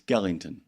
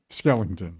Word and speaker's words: Skellington: And by the way, by the way, it's Skellington. Skellington.